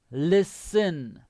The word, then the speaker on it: listen: listen again the pronunciation the t is silent listen listen but what is